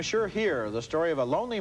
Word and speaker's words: Hire: come back M sure here the story of a lonely man whose sexual fantasies make him a murder suspect name m sure here that's spelled h i r e and this is one